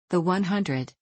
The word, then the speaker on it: The 100: The 100, pronounced The 100, is an American post-apocalyptic science fiction